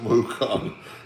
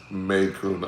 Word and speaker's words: Macon: Kirby said Mukon. It's pronounced Maycoon. I'm sorry, man. I'm sorry. I didn't had a couple whiskeys, smoking a cigar. My apologies. Macon.